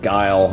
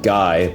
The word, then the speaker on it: Guile: my life growing up I always called him guile I never really knew that the correct pronunciation was was uh just guy but uh whatever and of course you know